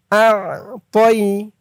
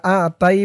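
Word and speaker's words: أَعْطَيْنَا: আ তয়া জবর তই, তই আ তই। অনেকে বলে ইন্না আ তাই বলে, আ তাই বললে কিন্তু এই তর উচ্চারণটা হয় না, বলতে হবে তই, আ তই।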